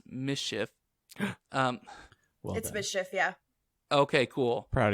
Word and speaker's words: MSCHF: new york streetwear company mschf which i assume is pronounced mischief um yeah okay cool